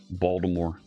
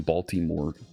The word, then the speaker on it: Baltimore: folks, right, say Philadelphia, Baltimore, right? That L in Baltimore, they'll either overpronounce it or they'll just swallow it entirely.